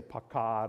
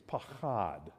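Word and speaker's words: פחד: learn clear your throat it's called a guttural so you got this is pachad you can just say pakkad or pachad however you want to say it but the best pronunciation is pachad this word means terror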